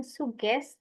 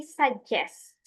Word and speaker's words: suggest: And then yang ini itu bukan suggest tapi suggest. Suggest.